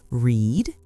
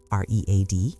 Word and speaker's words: read: The spelling is the same, but the sound is different. Read r e a d for present. Read r e a d for past participle.